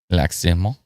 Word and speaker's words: Lac-Simon: Lac-Simon. Ah. And lac meaning lake, I'm assuming. All right. It's another squid says Lac-Simon, but the mon is pronounced through your nose. Lac-Simon.